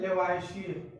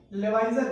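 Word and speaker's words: Lavoisier: अगर हम बात करें रसायन विज्ञान के जनक की तो इनका नाम है लेवाइशियर। कहीं कहीं आपको लेवाइजर भी लिखा होगा, वो प्रोनाउंसिएशन की प्रॉब्लम है, तो लेवाइशियर कहिए या लेवाइजर कहिए।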